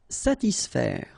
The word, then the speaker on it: satisfaire: profiter, calmer, satisfaire. Okay, so satis, and then remember A and E together will produce the sound E, so faire, satisfaire, satisfaire.